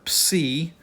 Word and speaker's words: psi: key then we have the letter P C and it is the PS sound as in piden if